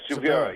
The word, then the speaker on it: Silveira: Yes, Silveira.